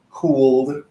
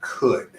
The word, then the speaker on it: could: three words is that the L that you see in those words is silent so the pronunciation is not schooled cooled or ruled okay that's